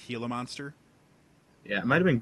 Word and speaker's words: Gila monster: a desert is and can pronounce Gila monster the correct way not Jayla monster sorry I was born